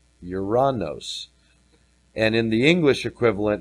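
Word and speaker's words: οὐρανός: I can jump back and forth 3772 is uranos uranos and in the English equivalent here it's described as Heaven air Sky Heavenly so isn't that interesting a throne was set in uranos heaven air Sky um no mention of a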